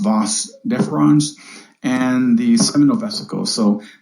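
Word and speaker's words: vas deferens: prostate glands gives me DeVos deferens which is pronounced boss deferens and the seminal vesicles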